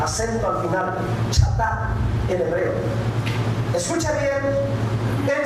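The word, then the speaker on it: חטא: Miren, la palabra pecado, esta palabrita pecado, en el original, el hebreo original del Antiguo Testamento, en los originales, esta palabrita pecado significa o se pronuncia chatá.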